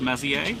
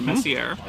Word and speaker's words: Messier: going to be from Charles Messier or Messier um again depending on how you want to pronounce it uh Charles Maier was